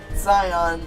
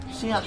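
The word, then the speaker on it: Xion: Silver says, Riku nominee Zion, not necessarily in that order. It's pronounced Gion. Shion, sorry.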